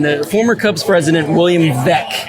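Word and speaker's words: Veeck: former cubs president william vek i believe it's pronounced william beck he added ivy to the outfield walls of wrigley in 1937.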